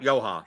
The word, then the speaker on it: Johan: And by the way, you mispronounced his first name. You included the N. Oh, I forgot. Yoha. Sorry. No N's today.